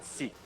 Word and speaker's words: Sikh: Yeah, I am never clear on if the I is pronounced like an I or an E. It's both. It's a short E. So it's like sek? No, I mean a short E as in Sikh. Okay. Like it's pronounced for a short amount of time.